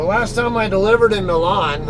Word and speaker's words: Milan: i delivered in milan i know you guys call them milan but there's no damn way i'm gonna pronounce that milon that's that's stupid american way sorry uh i'm not trying to be uh an ass or anything but that's not that's not a linguistically accurate way to call it at